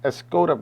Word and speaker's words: Escoda: is a cat's tongue escado a skoda however you want to pronounce i pronounce it like a english i guess i should pronounce it like spanish escoda brush i'm sorry a